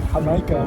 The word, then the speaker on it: jamaica: so it was great there's a mexican tea called hamaika which is uh it's spelled like jamaica because it's based on